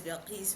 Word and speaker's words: Bilqis: my name is Bilqis. You can say it like a Bill and a kiss.